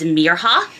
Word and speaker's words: Mirha: Our main character in this, her name is Mirha. Mira is a miracle, ha as in haha.